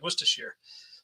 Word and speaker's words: Worcestershire: Because it looks like Worcestershire sauce, but the way that the Brits would actually pronounce it is like Worcestershire, like Worcester. Kind of thing.